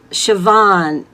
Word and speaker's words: Siobhan: Siobhan, and I'm so glad I know how to pronounce your name, that I'm not mispronouncing it the way it's spelled.